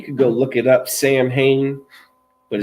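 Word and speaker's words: Samhain: You could go look it up, Sam Hain, but it's pronounced Soin, but it's Samhin.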